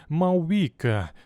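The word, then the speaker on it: Мавуіка: якщо бити в реакцію почнемо з того що ім'я її запозичене з міфології Маурі і вимовляється як маувіка вона ж богиня вог китайці трохи змінили її ім'я і вийшла мавуйка в цьому відео ми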